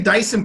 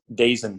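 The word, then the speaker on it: Daison: Did I say his name wrong? Dazin Pursley. Why does he have an I in there if it's Dazin?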